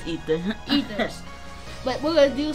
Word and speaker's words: Aether: I know I said it wrong. It's Aether.